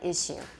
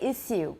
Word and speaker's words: issue: corrector extremely conservative pronunciation in British English it is normally issue yeah some people say issue but my British teacher tells me he says oh it's terribly important issue you know so that's not the usual pronunciation according to my British teacher it's issue the same as an American okay and there are